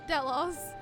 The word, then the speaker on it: Delos: Oh, Delos. Delos, and Eric Tonios. Eric Tonios. Okay. Thank you for pronunciations.